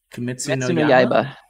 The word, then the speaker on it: Kimetsu no Yaiba: I don't know how to pronounce the Japanese name for Demon Slayer. Kimetsu no Yaiba.